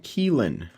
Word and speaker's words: Kylin: gonna leave that there the yueshen kealan and that is how it's pronounced I have looked this up and it is it is Kela it's a mythical creature but anyways let's go